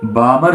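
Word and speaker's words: Balmer: यहाँ एल जो है वो साइलेंट है, तो बामर सीरीज, बामर करके जो साइंटिस्ट है उसने इसको डिस्कवर किया था।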